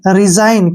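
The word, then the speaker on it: resign: है एन से पहले फिर जी आ गया जी को हम छोड़ देंगे तो पढ़ना ही नहीं है जी को हमने आर ई एस आई एन रिजाइन क्या पढ़ेंगे इसको रिजाइन अब जैसे इसको देखिए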